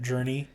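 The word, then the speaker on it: Jurnee: yeah junie j-u-r-n-e-e how do you say that journey journey journey journey journey smolette smolette that's how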